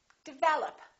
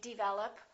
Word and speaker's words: develop: look at this one this is a commonly confused word by a lot of people develop second syllable is stressed this is reduced this is reduced develop once in a while you will hear people say develop or they might say